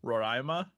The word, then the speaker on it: Roraima: it's uh it's this thing called mount roraima roraima something like that pronounced that right they think it's roraima they think it robin you're already throwing shades mount roryma really a lost world where dinosaurs may still